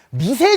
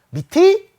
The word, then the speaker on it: 밑이: 나 옛날에 이거 뭐라고 읽었냐면 미세 절대값이 이렇게 읽었거든 내가. 미세 절대값. 말도 안 되잖아. 어떻게 읽어야 돼? 밑이 절대값이 이렇게 읽거나 밑에 절대값이 이렇게 읽는 거예요. 알아두세요. 단 이 앞에서는 치읓 발음으로 바뀌어.